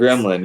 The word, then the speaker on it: GRMLN: It's Gremlin. Yeah, yeah. GR, but it's spelled like GRMLN.